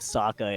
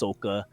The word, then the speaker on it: Sokka: they change the pronunciation of everybody's name, so instead of Sokka, it's Soka.